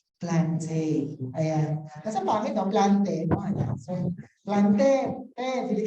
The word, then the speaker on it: plantae: Ang tamang pronunciation daw ng plantae ay plantae, no? Yan, yung AE daw ay E lang talaga, no? According to classical Latin, no?